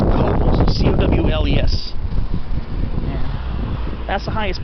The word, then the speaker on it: Cowles: And the highest point in San Diego City is Cowles Mountain, and that's how you're supposed to pronounce it, from what I've heard. Not Cowles like a lot of people pronounce it.